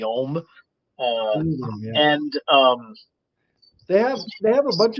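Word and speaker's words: Ogham: the Om script or Ogum. I heard it's properly pronounced with a silent G, so it's like the Om.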